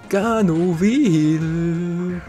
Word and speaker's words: Ganovil: Ganovil. Ein Ganove und Böse. Ganovil. Ganove plus Evil, also Evil. So Evil. Genau, so spricht man es auch.